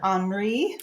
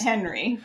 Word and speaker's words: Henry: of the characters in the story, do you pronounce her Henri or It's Henry?